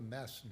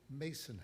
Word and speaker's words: Mason: the meeting, but I referred to the Mason House, not the Masson House. Yes. Why did I do that? Well, I'm curious now. Yes. Well, it looks like Masson if you look at it phonetically. But if you were to talk to a gentleman named Gary Varney, he would say Mason House.